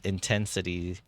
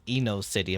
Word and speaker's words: Intensity: funny story about intensity I've mispronounced his name um a few times first time I saw his name I was reading it as Eno City I'm like why would they call someone Eno City and I was like